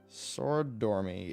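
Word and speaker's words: Soridormi: is the ursidormi is a sword or me sorry dormi s-o-r-i-d how good I was actually saying it right sword dormi yeah because we we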